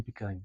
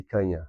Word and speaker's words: picanha: You got to get the pronunciation to come from the nose to get the correct pronunciation on the word.